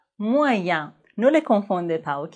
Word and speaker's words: moyen: Mais dans les mots examen et moyen, E-N se prononce en, examen, moyen.